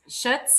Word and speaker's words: Schutz: Kelly um Shut Schutz Shutz if I'm pronouncing that correctly because everybody wants to add the L and there's no L and um we were